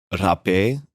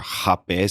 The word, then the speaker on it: rapé: But people listening may recognize a word called rapé or rapé. Some people say it with the rapé, like the Brazilian pronunciation, because they don't want it to sound like rapey.